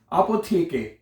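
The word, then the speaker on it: Apotheke: अपोथिक हैं। देखिए स्पेलिंग मैंने कहा ना देखें आपोथेके अपोथिक आपोके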